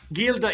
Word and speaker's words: Gilda Radner: Wilder wife a fan in the chat says Gilda Radner Gilda Radner there you go you are correct yes you I gildner Gilda is the right pronunciation because in Italy when you put G